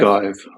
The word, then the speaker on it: ogive: Or in, I don't know how to pronounce this, ogive, a pointed arch. Ogive. Arc. Gov? How do you say it? Ogive? Ogive.